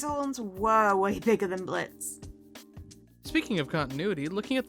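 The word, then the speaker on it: Blitzø: His horns were way bigger than Blitz. Speaking of continuity, looking at the subtitles, we see that in the past, Blitz's name is spelled as Blitz-Ø, but presently the O is slashed out since it's silent.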